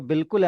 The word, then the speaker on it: बिल्कुल: अब यहाँ पे बे के बाद जब अलिफ लगता है, ठीक है, तो अलिफ साइलेंट हो जाता है, छोटी सी ई की साउंड आ जाती है उसकी जगह, रिप्लेस हो जाती है जेर वाली साउंड के साथ।